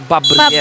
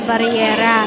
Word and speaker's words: Babriera: Babriera. Babriera. Babriera. Tinanong ko kasi kanina apparently yung nakalagay dito sa atin is Barriera. Oo nga. Pero Bob pala yun.